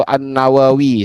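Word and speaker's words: an-Nawawi: Cara pembaca, cara baca yang tepat. Nawawiyi, nawawi atau annawawi seperti itu. Sukawi annawawi yang tasdid ya.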